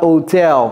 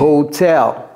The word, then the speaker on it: hotel: Pour l'hôtel, prononcez le H également. C'est pas hotel, c'est hotel. Hotel.